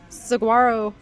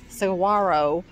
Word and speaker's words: saguaro: this is a um saguaro saguaro cactus the g is silent i know i have